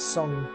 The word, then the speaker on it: Tseng: Tseng or Tsong. Sung. Sung. I know it sounds strange, but it is. It's Sung. Yeah.